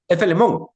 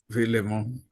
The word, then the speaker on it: Filemón: Felemón. Filemón. Sí, Filemón. Porque Filemón se escribe Filemón.